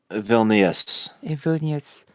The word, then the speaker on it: Vilnius: yeah lithuanians um the capital of Lithuania ah pronunciation thank you Vilnius like I tend to ask so after World